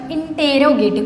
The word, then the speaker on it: interrogative: पढ़ते तो है इंट्रोगेटिव, पर स्पेलिंग से जो लिखते हैं बच्चों इंटेरोगेटिव, कैसे, INTERROGATIVE, इंटेरोगेटिव पढ़ते हैं इंट्रोगेटिव।